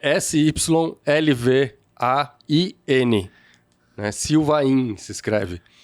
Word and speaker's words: Sylvain: Sylvain se escreve. Mas se pronuncia como se não tivesse aquele I antes do N no final.